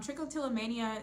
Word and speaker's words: trichotillomania: So it kind of stems from, trichotillomania stems from, oh, I said it right.